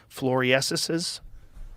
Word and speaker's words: floresiensis: Floriensis?